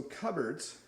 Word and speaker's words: cupboards: we have cupboards so cupboards uh notice it's not pronounced the way it looks in a cupboard you'll